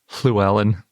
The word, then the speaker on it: Llewellyn: with it because it's basically pronounced the same as the double L in Welsh, like Llewellyn, if you say it in the Welsh way, which I think is something more like Llewellyn.